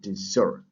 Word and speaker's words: dessert: at this word dessert this word has a stress on the last syllable so dessert and what is a